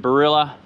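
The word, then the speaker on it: Barilla: we're going to get the sauce old mate barrilla that's how you pronounce it straight on those onions then the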